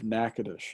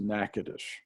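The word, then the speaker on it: Natchitoches: day uh area of nakadash and that's that's spelled n a t c h i o t o c h e s spell it sounds pronunciation is nothing like it's spelled it's pronounced nakadash and that is uh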